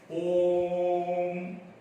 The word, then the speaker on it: ओम: उसको उच्चारण के समय हम ह्रस्व और दीर्घ स्वर से और ज्यादा समय लेना पड़ता है। ओम जैसा, तो ये प्लुत स्वर कहा जाता है।